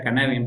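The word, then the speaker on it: Cynefin: de de Dave snowden que se es esbe cinef pero se pronuncia canevim porque él es galés y canevim viene a significar algo así como entorno o ecosistema se lee desde el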